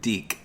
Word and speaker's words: DiC: How do you say it? Deke. Deke. I didn't want. When I was a kid, I was like, hey, it's the Dick Show, because the Deke.